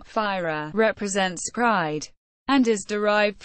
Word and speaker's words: Fyra: fire pronounced firea was an international High-Speed Rail service between the